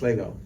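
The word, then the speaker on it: L'Ego: do the apostrophe so it's l apostrophe ego and it's pronounced Lego and uh the whole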